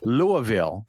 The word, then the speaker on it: Louisville: Well, Brian, speaking of your vacation, you went to Louisville, I believe, is the way it's supposed to be pronounced.